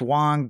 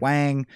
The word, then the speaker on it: Wang: two different sames um their names pronounce wong but everyone says it wang they speak both chinese